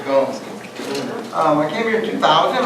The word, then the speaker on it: Gomes: Gomes works in Portuguese, woman in Spanish, so Portuguese was Gomes.